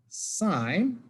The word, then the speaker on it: sine: Sine is the button that says S-I-N. Cosine says C-O-S, and tangent is T-A-N. It's still pronounced sine, sine, cosine, tangent, not sin, cos, tan. Sine, cosine, tangent.